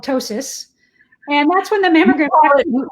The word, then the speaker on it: ptosis: There's a doctor word for that called ptosis. And that's when the mammogram... We call it droopy boobs. Yeah, so droopy boobs, but doctor term would be ptosis, spelled with a P actually, P-T-O-S-I-S. But that's when your mammograms